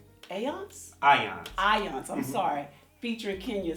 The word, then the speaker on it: Ions: It's spelled phonetically. It's Okay. AHYONZ. All right. But basically it's IONS. And it stands for small electric particles.